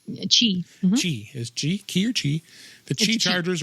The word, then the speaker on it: Qi: Qi is key or Qi. The Qi chargers are QI. And QI is actually pronounced Qi, just like X is pronounced 10.